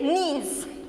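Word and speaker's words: gneiss: slate then next is knees here g is silent your g is silence how it is how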